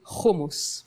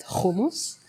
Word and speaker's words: hummus: Israeli we love hummus I say hummus please let me pronounce it right homos so we love it